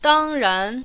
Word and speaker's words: 当然: Remember to say the first syllable as a high, clear tone, and then start low with the rising second syllable.